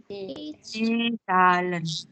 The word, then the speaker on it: Zahlen: Die Zahlen. Z dibacanya T.